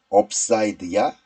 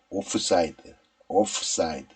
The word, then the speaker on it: 오프사이드: 자 오프사이드의 모든 것 업사이드야 오프사이드야 정답은 off 사이드입니다 오프사이드 오프사이드 그래서 ob라고 발음하는게